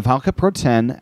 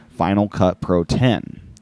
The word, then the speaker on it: Final Cut Pro X: pointed this one out before not but in final cut pro 10 faq the document begins how is final cut pro x pronounced according the apple final cut pro x is pronounced final cut pro 10.